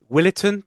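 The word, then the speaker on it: Willetton: And that would be again I try the pronunciation Willitin Tigers. Would that be all right? Yeah, the Willis Tigers. Spot on. I'm getting good with these pronunciations.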